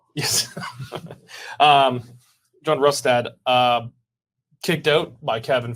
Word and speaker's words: Rustad: it right rustad rustad I keep on saying bonstead but it's rustad it's a German yes um John rustad uh kicked out by